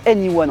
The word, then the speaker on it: e:Ny1: présenter le tout nouveau Honda in I One a prononcé anyone en France le deuxième modèle électrique